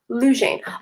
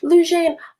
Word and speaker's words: Lujayne: um lujan oh oh you literally said your name pronunciation right there and i did not say that before i said your name lujan oh lujayne oh that makes sense okay thank